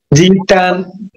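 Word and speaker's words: 鸡蛋: তারপর হচ্ছে কি ডিম, ডিম হচ্ছে জিতান, ইতান জিতান, জিতান জি। আবার আমি আগে মানে বেশিরভাগ দিচ্ছি জিতান জিতান হ্যাঁ, সিতাং সিতাং বলে সিতাংও হয় কি জিতানো হয় জিতান, এই যে বাংলা লিখে দিছি জি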